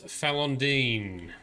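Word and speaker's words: Falon'Din: be straight ahead somewhere balondin equals falandine alondine is the pronunciation thank you very much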